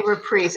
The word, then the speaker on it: Reprise: It seems to be Reprise, but Reprise is more common when it's a verb. Right. Right. For this usage. And that's how he pronounced it, apparently.